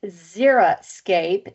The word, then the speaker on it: xeriscape: means a picture and it is pronounced zeroscape there is no zero in it so this is a